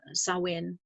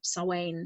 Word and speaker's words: Samhain: true portal is soin spelled sa MH k i n and pronounced Salian or saw Wayne some people say soin that is traditionally celebrated